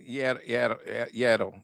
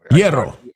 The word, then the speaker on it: hierro: Hierro. H-I-E-R-O. Hierro.